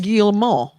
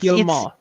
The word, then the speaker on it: Guillemot: Yves Guillemot. No, it's Guillemot.